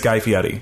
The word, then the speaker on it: Guy Fieri: We're going to have to buy Ed Hardy inspired knives with our own money because we mispronounced his name. His name is Guy Fieri, and I'm going to be keeping everybody honest about it.